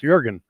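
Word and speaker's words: Jürgen: i can't help it jurgen is pronoun that's how it's pronounced jurgen then i want it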